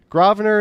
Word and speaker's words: Grosvenor: Grosvenor is how we say it.